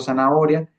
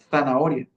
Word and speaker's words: zanahoria: No sé, supongamos un ejemplo zanahoria se tenía que pronunciar con DS. Sí, como zanahoria.